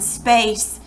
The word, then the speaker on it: space: Here's one, space. There's a silent E, so it makes the long A say its name.